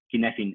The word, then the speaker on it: Cynefin: O se pronuncia así directamente Cynefin, como está en la pantalla, C-Y-N-E-F-I-N, ¿no? Cynefin es como le pronuncian los galeses de este tema.